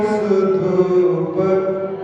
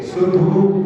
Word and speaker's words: सुधूप: लोग तो क्या करते हैं, चरु सुदीप सुधूप फलार्घ कई, सुधू बोल करके ही फल बोल देते हैं, सुधूप पा का भी उच्चारण होना चाहिए।